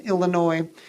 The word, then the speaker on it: Illinois: When you see a kid and they can't count change, and they move their lips when they read, and they pronounce the S in Illinois, and they don't know